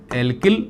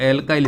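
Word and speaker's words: alkyl: एल्किल Hindi में बोलते हैं, और एल्काइल इसका प्रोनाउंसिएशन है एल्काइल ग्रुप।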